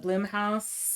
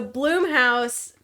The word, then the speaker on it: Blumhouse: It's like Steve Blum doesn't have an E, but that's how you say it, and then it's Blumhouse.